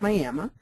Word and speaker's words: Miami: is uh miam Oklahoma looks like Miami but in Oklahoma it's pronounced Miama and uh they uh